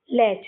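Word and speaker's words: latch: अगला वर्ड में भी टी सी एच लास्ट में है। इसमें भी टी साइलेंट हो जाएगी। तो उसको पढ़ेंगे ल और सी एच से क्या बनता है? च बनता है। तो क्या हो जाएगा? लैच।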